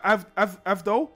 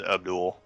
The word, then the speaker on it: Avdol: Avdol? Abdul? Yeah, well, that's like the Japanese pronunciation, but his name's Abdul.